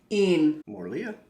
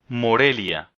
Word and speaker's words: Morelia: So, Morlia?